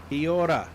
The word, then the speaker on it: kia ora: The trick is you have to roll your R's. Kia ora. Sort of like a bit of a roll on the R.